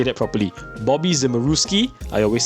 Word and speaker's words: Zimuruski: Bobby Zimmeruski.